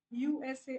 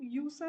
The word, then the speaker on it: USA: ठीक है, कि इनिशियलिज्म में आप हर लेटर को सेपरेटली प्रोनाउंस करोगे, BBC, USA, आप इसको यूसा तो नहीं बोलते ना, यूएसए को आप यूसा तो नहीं बोलते, है ना, USA बोलते हो।